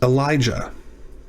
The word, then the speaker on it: Elijah: about uh aliyah aliyah well remember the yod is often made into a g when we pronounce these names this is elijah this one is and